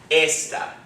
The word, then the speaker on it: esta: accent is going to fall on the second device which would be esta right but as soon as we put an accent mark over it the accent mark overrides any other rule when you see an accent marketable in word you forget the rule you just put the accent on that accent mark the rule has no merit so you see that